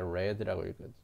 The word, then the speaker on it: read: S가 없으니까 read라고 읽어야 되고 과거 시제죠.